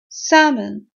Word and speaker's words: salmon: confusing word is salmon salmon salmon is without l guys when you say it it's written with L but it's never pronounced that L unless you live in